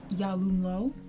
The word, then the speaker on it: Yalumlo: This is Yalumlo. Nice to meet you. It's a pleasure. Why'd you say it all like Midwestern? Like that's how you say his name.